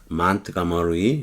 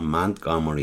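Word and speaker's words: Montgomery: 동료인 짐 파머를 to meet with 마틴 루터 킹을 교회에서 몬트가머리, 우리가 흔히 몽고메리라 그러죠. 알라바마주 몽고메리에서 영어는 T로 발음을 하대요. 몬트가머리 이렇게 발음해요.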